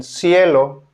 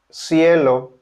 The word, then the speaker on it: cielo: Letter C is pronounced as a S in cielo. Cielo.